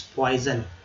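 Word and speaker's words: poison: विष, पॉइजन, पॉइजन। SON को जन कहते हैं, विषय।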